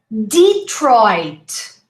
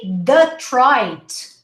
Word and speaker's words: Detroit: linkedin okay linkedin linkedin detroit if you say the trite native speakers would understand you're saying the pride this is there's a